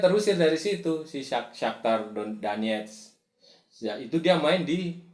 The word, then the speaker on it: Donetsk: Terus yang lain yang gol lebih keren lagi tuh yang gol margin besar tuh Shakhtar Donetsk bacanya Donetsk, Shakhtar Donetsk itu di kandangnya RB Leipzig 4-1.